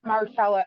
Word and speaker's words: Mahershala: Marcella.